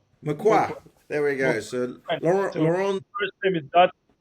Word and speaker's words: Mauquoi: Well, I'm going to do my my absolute best here, but um is it pronounced MUI? Mqua. MUA.